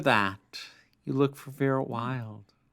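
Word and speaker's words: Wylde: And for that, you look for Vera Wild. Wild is spelled W-Y-L-D-E.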